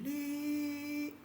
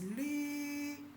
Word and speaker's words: lü: I will pronounce the first tone, that will be lü. And here that is l and the u. I use the first tone, which will be pronounced as lu. So this one is lü, and this one is lu.